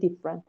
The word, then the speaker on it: different: میگی different. نمیگی vegetable. میگی vegetable. هر جایی که there is a vowel after the stressed syllable, that vowel is silent.